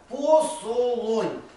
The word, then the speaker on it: посолонь: то очень древнее название Ну ударение и так и так ставят посолонь кто когда-то слышит это